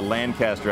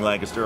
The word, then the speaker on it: Lancaster: And that's the way we pronounce it in the East. I know you pronounce it Lancaster. You have a Lancaster out here.